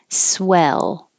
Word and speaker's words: swell: mouth open naturally naturally swell swell the vowel is e like head which is different than swill the vowel is I and I put here